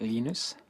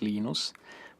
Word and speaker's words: Linus: I speak Swedish it's ninis when I speak Finnish it's Lee nose when I speak English its Linus and I really don't